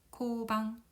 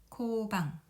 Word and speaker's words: 交番: 여기서 교자는 사귀다라는 뜻보다는 바꾸다는 뜻으로 해석을 해서 차례를 서로 바꾸다라는 뜻을 가지고 있고 일본어로 읽을 때는 코반이라고 읽습니다. 코는 앞서 나온 코엔과 마찬가지로 오 장음이 돼서 코방, 코방, 코방 이렇게 읽으면 되겠습니다.